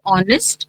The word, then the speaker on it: honest: So, though they are starting with letter H, okay, the sound is not of H. H is silent over there.